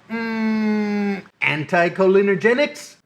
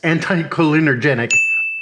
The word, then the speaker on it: anticholinergic: How about anticholinergics? Warning, this is from the future here. I'm about to mispronounce the word anticholinergic as anticholinergenic 1,000 times.